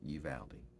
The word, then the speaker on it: Uvalde: again about the shooting in south texas in uvalde that's how it's pronounced you've aldi what a tragedy i listened over the weekend